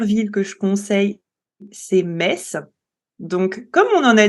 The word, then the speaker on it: Metz: et bien en fait les résistants ont commencé à appeler, la ville, à prononcer la ville Metz.